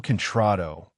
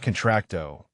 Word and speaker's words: contrato: My daddy says it's El contrato, not contracto, Danny explained with innocent helpfulness. And you have to roll the R sound like this.